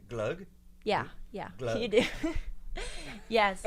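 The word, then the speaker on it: gløgg: G and that's do I say it right glug yeah yeah you do yes how is it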